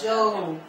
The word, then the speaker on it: Job: So it's like Joe, American English, Joe plus P. So it's Joe. Can you all say it? Joe. Amen. So we've learned one thing already tonight. Joe.